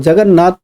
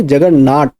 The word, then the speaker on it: जगन्नाथ: अब अंग्रेजों ने जगन्नाथ की यात्रा को देखा और वह जगन्नाथ प्रोनाउंस ना कर पाए तो उन्होंने जगन्नाट प्रोनाउंस किया।